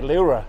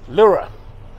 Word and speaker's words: Leura: How do you say Leura? Yeah, Leura. Leura.